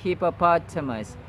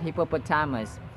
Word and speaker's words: hippopotamus: cracker Jack hippopotamus hippopotamus the stresses or the emphases are in the first and Third syllables Not To It's hippopotamus it's not hippopotamus It's hippopotamus hippopotamus yad yada Cecilia Cecilia